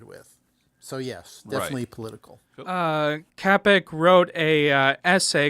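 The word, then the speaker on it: Čapek: I think it's Capek. I think there's a hard C.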